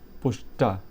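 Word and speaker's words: Puszta: Next जो है वह है पुस्ता। ठीक है? इसका स्पेलिंग जो आप देख लीजिए पी ओ एस जेड टी जेड टी ए I think इसमें जो है जेड साइलेंट होगा तो पुस्ता हो जाएगा।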